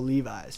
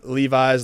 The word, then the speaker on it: Levis: I mean I uh Levi's Levis people pronounce my last name like Levi's all the time because of the name uh connection but uh it just